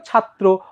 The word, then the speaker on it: ছাত্র: কি ভুল আছে ভাইয়া তোমার র ফালা যার সাথে থাকবে ওই বর্ণটা কিন্তু দৃত্ত হবে দৃত্ত মানে কি ভাইয়া ডাবল হবে ডাবল কিভাবে যেমন দেখো ছাদ তখন হয়ে যাবে কি ত্র দুইটা ত দুইটা ত হ্যাঁ আমরা যদি বলি চক্র তাহলে উচ্চারণটা কিরকম চক দুইটা ক তারপর র চক্র ঠিক আছে বা চক্র তো একইভাবে তোমার কি হলো ছাত্র অথবা ব্যতিক্রম দেখো এই